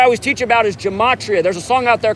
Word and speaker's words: gematria: effect sports on youtube gematria spelled like gem gem at at and then ria kind of like the sporting goods store gematria thank you appreciate you